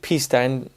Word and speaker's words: Pista: Next up is the Ferrari 488 Pista, and if my girlfriend is watching this, which she is the cameraman, she's Italian, and she's just always like, oh, that's not how you say it. Pista.